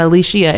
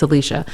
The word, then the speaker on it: Alishia: Cuz I've been correcting people the opposite, saying that it's No, it's not Alicia, it's Alicia. So, yeah. So, my my actual pronunciation is Alicia, but I don't.